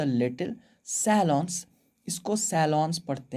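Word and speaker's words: salon: आप लोग फिर भी अगर पढ़ना है ढंग से, आप लोग चाहते हो एकदम अच्छा वाला प्रोनाउंसिएशन, तो सैलों पढ़ना, ठीक है? सैलों, सैलों, ठीक।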